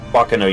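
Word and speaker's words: Baccano: Are you unfamiliar with Bachano? Bakano, you mean right? Do you mean Bakano? I have never heard it pronounced that way, but sure.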